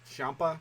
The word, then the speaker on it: Ciampa: Karrion Kross with Scarlett beat Tommaso Ciampa.